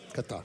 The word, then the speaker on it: Qatar: That's the proper pronunciation. One more time, Anthony. One more time. Qatar.